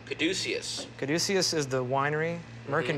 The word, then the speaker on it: Caduceus: Caduceus. Caduceus. Caduceus is the winery. Merkin mm-hmm. Vineyards are the vineyards. Merkin Vineyard. And you don't have a problem that your winery, the middle syllable almost sounds like douche?